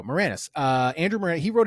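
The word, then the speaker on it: Maraniss: to pronounce his name m a r a n i SS uh wrote say Moranis yeah there you go Moranis uh Andrew Mor he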